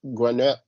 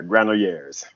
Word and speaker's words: Granollers: They took out Zabalas and Granette. I always say his name wrong. Yeah, Granollers. Granollers.